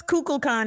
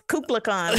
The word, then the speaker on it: Kukulkan: Yes, Kukulkan, it's Kukulkan, like nuclear.